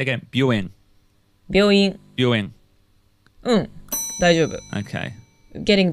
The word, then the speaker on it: 病院: And one final point on this, listening to that clip again, my pronunciation of Buin is terrible. まあ難しいのかしら病院。 Can I, okay, I'll say again, Buin.